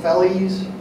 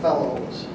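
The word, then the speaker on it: felloes: These individual pieces are, people pronounce it differently. Some call them fellies, others call them fellows.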